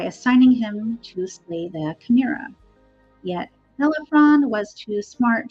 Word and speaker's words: chimera: However, later artists and writers give the Shamira 3 heads.